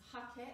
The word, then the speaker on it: hake: hakkai brush is a japanese brush it's often pronounced take in australia and the western world but it's hakee it's a japanese brush a beautiful brush that's